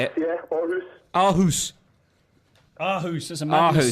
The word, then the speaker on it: Aarhus: Yeah, Aarhus. Aarhus. Aarhus, that's a Magnus song, isn't it? How was that? How did it come about? Yeah, well, how was it, mate? How was Aarhus?